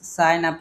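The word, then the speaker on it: sign up: এটা করেন তাহলে বলেন তো কি করব এটার উচ্চারণটা কি হবে সাইনপ আমরা বলি সাইন আপ করেন ঠিক আছে সাইন আপ তাহলে এখানে সাইন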